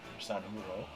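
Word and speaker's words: Sanjurjo: you normally have have Sano San huro because you know in Spanish you don't pronounce those hes or those JS they become hes essentially you're in English speak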